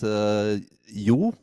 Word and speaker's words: Jo: The correct pronunciation of my name is Jo, but in English, Joe is fine.